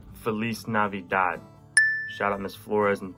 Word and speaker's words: Feliz Navidad: and the last question how do you say merry christmas in spanish we have to be uh felice died shout out miss flores